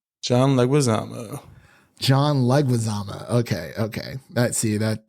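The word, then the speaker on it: Leguizamo: his last name uh because I can never pronounce it correctly John lezama John lezama okay okay that see that that that's better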